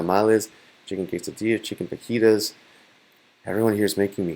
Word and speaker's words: fajitas: some person there and they ordered fajitas but they pronounced it Vegeta's and I was really